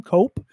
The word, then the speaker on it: Koepp: This was written by the David Koepp, I guess is how he pronounces his name, Cope.